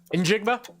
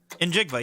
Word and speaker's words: Njigba: Yeah, he's very popular, butchered Smith Nick Jigma's name when he was butchered it. Hold on. What was that? Jackson Smith Njigba. Nope. Injigba. Injigba.